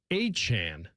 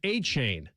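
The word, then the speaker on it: Achane: And so it's being pronounced Travis Achan. Oh, so now we've got two running backs in the league. Yeah. And when a Yeah. And when Devon Achan came into the league, we were pronouncing it Achain.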